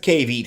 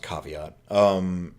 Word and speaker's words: caveat: Spider-Man, because that's the cave eat here. That's the old I know the word's pronounced caveat.